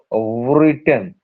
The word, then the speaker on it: written: he has rich not written wrot W is not pronounced is not pronounced he